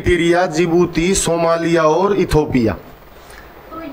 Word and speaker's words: जिबूती: Sudan Eritrea और जिबूती जिबूती में डी आता है मैप में देखोगे तो डी नजर आएगा बिगिनिंग में ठीक है साइलेंट है बोलते क्या है इसको जिबूती तो रेड सी से